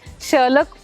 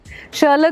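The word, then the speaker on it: Sherlock: हीरो लेकिन लोग इन्हें शलक होलम्स कहते हैं क्यों शलक भी नहीं है शलॉक शलॉक होम्स एच ओ एल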